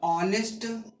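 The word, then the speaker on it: honest: तो ऑनेस्ट pronunciation में क्या लिखेंगे हिंदी में?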